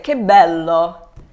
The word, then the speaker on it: che bello: So in this phrase here, che bello is pronounced like k because the C is followed by an H.